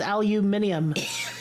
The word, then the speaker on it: aluminium: and then and then putting so many syllables aluminum and his aluminium what is going a